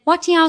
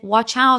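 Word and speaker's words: 我叫: But little did I know, my tone was slightly off and my pronunciation was very off. So I should have said, Wat Yao, which means But I accidentally said, Watch out, which means, what the.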